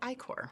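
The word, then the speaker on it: ichor: oozing H yes I recently learned that it's pronounced ior it is technically ior but it doesn't but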